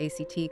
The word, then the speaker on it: ACT: This is where therapies like acceptance and commitment therapy, ACT, come in. Right. Exactly. ACT, pronounced as the word act, emerged partly in response